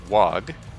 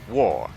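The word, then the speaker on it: Waaagh: it's different um but most people pronounce it wag or the gh is silent and pronounce it wah it is war as in wheeze go into war nobody seems to pronounce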